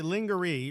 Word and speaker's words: lingerie: them down that route lingerie lingerie right that's how you pronounce it okay we have